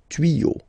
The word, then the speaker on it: tuyaux: Okay, des tuyaux. Same rule, you don't pronounce it.